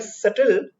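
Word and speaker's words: subtle: वैसे इसका मतलब है characterised bye सटल shades of meaning और एक्सप्रेशन, ठीक है। इसका जो ये SUBTL, इसका प्रोनाउंसिएशन सटल होता है, बी साइलेंट है, ठीक है।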